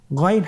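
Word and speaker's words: غين: আমরা অনেকে বলে থাকি গাই না এটা ভুল উচ্চারণ এভাবে উচ্চারণ করা যাবে না যেহেতু হরফটি মোটা এজন্য মোটা করে উচ্চারণ করতে হবে মাশাল্লাহ আলহামদুলিল্লাহ আমরা আজকের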